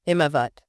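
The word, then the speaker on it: Himavat: Those snowy mountains of course being the himovat. Himmovat. You know it's lovely to hear the original pronunciation.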